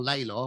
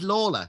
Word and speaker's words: Lawler: bag with Lawler or Laylaw, whichever you want to go for. Because bearing in mind, Paul Nicholls did call Kato Star for about 3 years. So the official pronunciation is Lawler, isn't it?